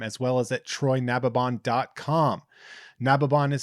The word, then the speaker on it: Nababan: Nababon is spelled Nababan, and